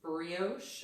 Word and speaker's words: brioche: I'm on there let's see this is advanced brioche is that how you said that word it's